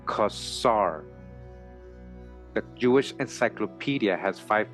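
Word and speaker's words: Khazar: words kasar added onto it it is correctly pronounced kasar the Jewish encyclopedia has five pages on the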